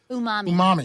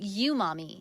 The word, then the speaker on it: Umami: Hey, and uh and and and how am I supposed to say this burger place? Umami. Umami. That's what I've been saying. You've been saying you, mommy.